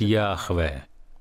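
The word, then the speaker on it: Яхве: ему свое личное имя мы не совсем уверены в том как оно произносится исследователи семитского считают что оно произносится как йахве опять же это слово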